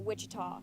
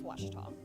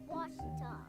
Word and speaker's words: Ouachita: Back in Texas, everybody pronounces it Wichita, but really, it's Washita. Washita. Washita.